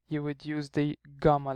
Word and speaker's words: Ghamma: have is the letter Ghamma. This is the letter Ghamma or Ghamma, because actually, sorry, it's pronounced as a Gha. It's a letter that does not exist in English, but it's in Arabic.